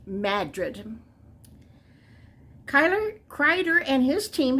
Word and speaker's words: Madrid: just like Madrid but you don't call it Madrid it's in in this little town it's pronounced Madrid Kyler Kreider and his team have been tracking